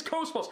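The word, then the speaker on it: KOS-MOS: and by the way people say her name wrong they always say like like Cosmos or Cosmos whatever it's Cosmos Cosmos can you get name right her name is Cosmos not Cosmos I swear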